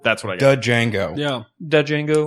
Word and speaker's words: Django: The Django. Yeah. Dead Django. The D is silent.